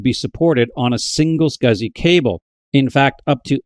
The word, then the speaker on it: SCSI: The contemporary to IDE was the small computer system interface or SCSI which was virtually always pronounced SCSI.